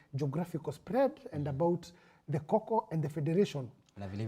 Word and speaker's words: Kho Kho: He has been saying hoho badala ya Kho Kho.